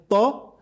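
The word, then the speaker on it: ط: As regard tho, the back of your tongue rises.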